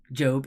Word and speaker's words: Job: doorway look at that as a proper noun job is pronounced to rhyme with globe Rove and stroke well thank you Charlie